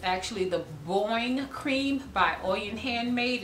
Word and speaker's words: Boing: don't have a container for it's actually the Boeing cream by Uyen handmade it's spelled be 0 ing have not seen it